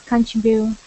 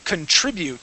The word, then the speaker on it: contribute: Okay, that word is contribute with the accent right on that I contribute. Try that. Contribute. Okay, good. And and we're going to pronounce that. We need to pronounce that T at the end.